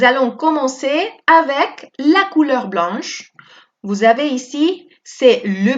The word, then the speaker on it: blanc: On ne va pas prononcer le C.